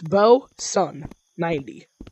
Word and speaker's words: Bowson: And that's Sun, so it's Bowson90.